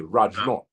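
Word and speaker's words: Rajnauth: N-A-U-T-H, should I pronounce Rajnath? It's pronounced like, in Guyana, they say Guyana is for sword. Right. It's for sad. Right. So it will be Ramnath. Oh, okay, Rajnath.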